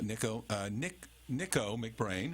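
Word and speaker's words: Nicko McBrain: Nico McBrain.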